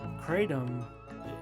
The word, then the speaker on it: kratom: our everyday lives kratom has been the common pronunciation in the united states so why um why that came about i'm not really sure because even in malaysia it's it's it's kitam so it's it's a different pronunciation but there's no no where is there the cray yeah except for here well you know that's